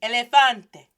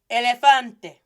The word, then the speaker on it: elefante: is not well pronounced it's not me animal favorito esl elefante it's e hey get old boy's attention get old girl get whoever attention that's approaching you but then turned around and you didn't get to salute early go ahead and say hey repeat that to me elefante elefante get his attention hey so now he